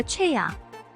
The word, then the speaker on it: 최: 내 이름은 초이가 아니라 최야. 왜 아직도 제대로 발음하지 못하는 거야?